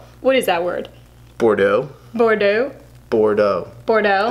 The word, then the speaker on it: Bordeaux: Bordeaux. Bordeaux. Bordeaux. The X is silent, it's French.